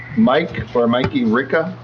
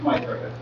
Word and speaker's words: Mike Ricca: Next up is Mikey Ricca. Did I pronounce that right? It's Mike Ricca.